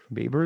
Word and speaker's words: Baber: Baber is the right way to say it.